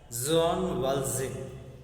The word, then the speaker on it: Jean Valjean: See, here is a word and character Jean Valjean, to be pronounced as Jean Valjean.